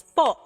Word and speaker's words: po: on its own, it's po. Or at the end of the sentence, magandang gabi po. But if you put it in the middle of the sentence, the sound changes magically into an ooh.